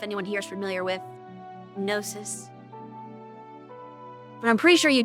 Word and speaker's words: gnosis: Isn't the G silent? I wish that was nosis, not gonosis. I'm pretty sure they're pronouncing that wrong.